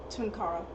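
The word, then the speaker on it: Tunkara: How do you pronounce that? Tunara.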